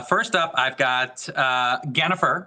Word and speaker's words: Gennifer: up I've got uh Gennifer which is spelled like Jennifer but with a G she's a member she's